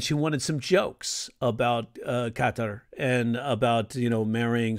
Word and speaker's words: Qatar: I had a student; she was getting married, and she was like, her fiance was from Qatar, or Qatar is how it's supposed to be pronounced.